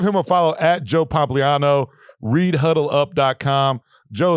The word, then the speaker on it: Pompliano: I noticed you didn't even try to pronounce the last I'm not going to try it. Pompliano.